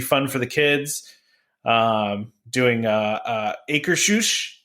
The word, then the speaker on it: Akershus: Doing Akershus, right? Trevor, that's how you say it correctly? Akershus.